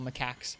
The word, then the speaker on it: macaque: Cute little macaques. I heard someone else pronounce them. It is pronounced macaque, which sounds funny, but it is.